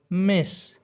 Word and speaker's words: Ms: مس، ام اس، مس، خو دا مس دا اخیره کې اس چې دی دا د زی په رقم تلفظ کوي، یعنی زیډ په رقم.